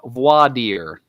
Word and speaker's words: voir dire: of all Your Honor it's pronounced voix dear oh my god correcting a judge number one is a very like that is a very inadvisable idea bowed ear and I wouldn't call